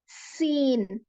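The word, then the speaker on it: س: सीन जो है इसको प्रोनाउंस करते वक्त आपके ऊपर के और नीचे के दोनों दांत टच होते और एक सीटी जैसी आवाज निकलती। सीन, सीन।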